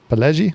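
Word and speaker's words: Pileggi: credit with uh a gentleman named uh Nicholas pellei I'm gonna say Peli pellei how do you think pellei p and I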